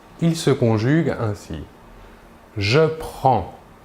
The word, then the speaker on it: prends: il/elle où on prend voyons ici que la prononciation est la même pour les trois premières personnes le s final des deux premières personnes ne se prononceront pas mais s'écrivent passons maintenant aux trois